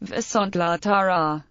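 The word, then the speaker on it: Viszontlátásra: There is secondary stress on other syllables in compounds, e.g., Viszontlatazra, pronounced Viszontlatara.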